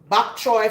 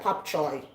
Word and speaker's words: bok choy: Bok choy for some people, depending on where you're from, you pronounce it bok choy. We in Jamaica, we say pop choy or pop chow.